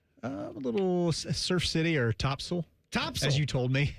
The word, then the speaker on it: Topsail: A little Surf City or Topsail.